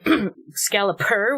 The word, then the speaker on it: Excalipur: Excalipur with a P. I feel like I didn't pronounce the P very well.